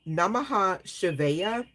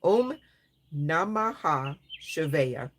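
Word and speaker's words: Om Namah Shivaya: So it's talking about Namaha Shivaya, being the Maha mantra. Oh, excuse me. Om Nahama. I'm saying it wrong. Om Namaha Shivaya is the Maha mantra.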